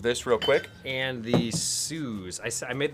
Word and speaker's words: Suze: I made the mistake of one time saying Suze, and someone went. Where's the mustache? Real quick. I got you right here. There you go. Mustache. So it's this one down. It's pronounced Suze.